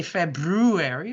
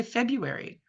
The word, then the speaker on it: February: I was right and there are two RS because we don't pronounce it really we don't say February we say February most of us so